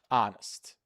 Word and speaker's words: honest: Yes, honest. honest. Perfect. That's right. Many people like to say honest, but the H is silent.